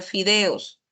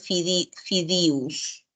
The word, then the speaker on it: fideos: y o u que lo correcto es pronunciar fideos pero en la sierra se suele se suele cambiar y en vez de decir eo dicen iu entonces dicen fidus es es una característica